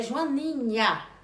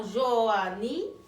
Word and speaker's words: Joaninha: Que Joaninha é Joaninha, com a sílaba final de nha, e não Joania.